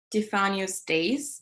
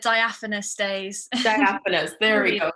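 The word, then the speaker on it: Diaphanous Days: and pronounce this correctly defano's days is that how you pronounce your collection's name well i pronounce it diaphonous days that's that's the right way to say it what was what was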